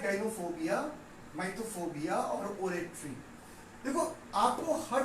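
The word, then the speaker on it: mythophobia: बहुत सारे लोग उसको मिथोफोबिया भी पढ़ते हैं, बट शुड बी प्रोनाउंस माइथोफोबिया, है ना।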